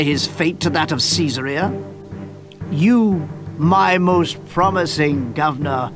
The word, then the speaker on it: Caesarea: neglect the city's defense all right well caesarea that's how it's pronounced governor fired population 7000 prosperity 70 favor 90 culture rating of 60 piece rating of 60.